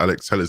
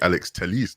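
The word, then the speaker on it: Alex Telles: um andy mitten said that apparently the correct pronunciation for alex tell us is actually alex telis did you know that i didn't i did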